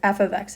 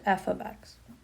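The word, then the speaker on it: f(x): We pronounce this as f ofx. It does not mean f* x or f multiplied by x. It is just f ofx.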